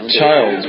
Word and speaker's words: Child: celebrity jeopardy and wolf you pronounced her last name as child's right it doesn't have a goddamn accident it's pronounced child which is what you